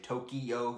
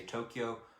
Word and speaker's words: Tokyo: of you know sophistication don't say Tokyo they say Tokyo like it's two syllables versus like two three firm ones right so that was